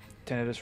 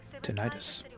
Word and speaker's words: tinnitus: Nice tinnitus ringing in the ears there. Or, as the Americans say, tinnitus.